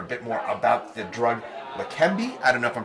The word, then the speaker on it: Leqembi: And joining us for a bit more about the drug Leqembi, I don't know if I'm pronouncing that correct. You got here. it, yeah. Leqembi, Dr.